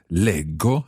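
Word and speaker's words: leggo: the third person plural because in both those parts the j of the infinitive legere becomes a hard g sound lego i read lego no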